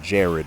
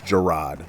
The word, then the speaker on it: Jarad: I know people pronounce it Jared, but it's Jarad. We gonna call him Jarad.